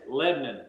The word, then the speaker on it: Lebanon: Yeah, you gotta say it like this: Lebanon. Leave the A out to make that O and I.